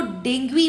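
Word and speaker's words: Dengue: खैर वैसे डेंगू को डेंगू नहीं बोलते, अगर जैसे हम लोग प्रॉपर इंग्लिश अगर देखें, प्रोनाउंसिएशन अगर देखें तो डेंगू नहीं बोला जाता है, उसको डेंगुई बोला जाता है, डेंगुई, ठीक है, डेंगुई ये बोला जाता है।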